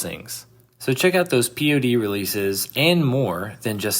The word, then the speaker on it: P.O.D.: Uh, of course we're still here talking about American rock band Pod.